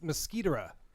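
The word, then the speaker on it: Mosquitera: It's Mosquitoera. Mosquito. Oh no, that's not. Mosquitra. Mosquitoera. Well, That's how they say it in the show. They say Mosquitoera.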